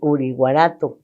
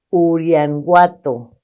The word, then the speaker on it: Uriangato: Sebastián en León y creo que no es Uri huar déjeme decirle creo que se pronuncia de otra manera es San Miguel de Uriangato Uriangato Así es lo dije